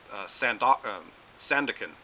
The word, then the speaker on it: Sandokan: He directed a lot of some films before this about Sandokan, that's how you pronounce it.